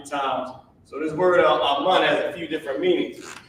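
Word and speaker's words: אמן: And this is how you pronounce it. Amun. Not amen, amun.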